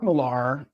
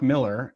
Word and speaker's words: Millar: the big two uh Mark malar or Mark Miller as I've been told recently is how it's pronounced I don't know how